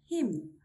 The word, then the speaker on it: hymn: Hymn, hymn, solemn, solemn.